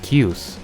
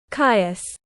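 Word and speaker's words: Kyuss: That last band was called Cuse. When am I pronouncing this right? Kais.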